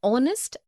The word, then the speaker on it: honest: also an air an honest an hour because the words air honest and hour begin with a vowel sound as the initial consonant h is not pronounced.